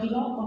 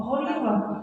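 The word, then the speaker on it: خليفة: Woi, bacanya bukan khilafah, khalifah.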